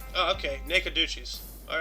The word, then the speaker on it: Nacogdoches: According to the international thing, it is pronounced Nacogdoches. Oh, okay, Nacogdoches.